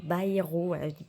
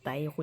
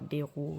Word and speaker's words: Bayrou: de l'éventuel départ de François baero baerro et pas Bero et on m'a fait